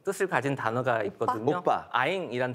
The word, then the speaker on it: anh: 아잉이라는 단어가 있는데 아잉이요? 예, 영어 스펠로 치면 ANH라고 하는데 북부 발음은 아잉이에요. 아잉. 예, 남쪽 지방에서는 안이라고 발음합니다. 같은 뜻인데.